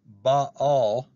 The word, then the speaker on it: Baal: Baal, or it's actually pronounced Baal, and Moloch translates as Lord and King.